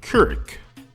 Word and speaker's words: Couric: I got to talk about this situation with Couric.